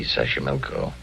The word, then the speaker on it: Xochimilco: Okay, so you pronounced it better than I do. It's easy: Xochimilco.